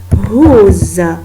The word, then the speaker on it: who: How we pronounce every letter, but who we pronounce only H and O, but we do write the W.